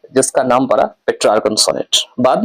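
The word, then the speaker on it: Petrarch: जिसका नाम है पेट्रार्क। इसको पेट्रार्क भी कहते हैं। स्पेलिंग है पी ई टी आर ए आर सी एच पी ई टी आर ए आर सी एच ऐसा ही है पेट्रार्क इसको पिटार्क या पेट्रार्क कहा जाता है।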